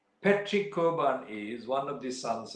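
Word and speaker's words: Cockburn: not familiar with the irish pronunciation they would pronounce it as bar but actually it's kovan patrick koban is one of the sons of the old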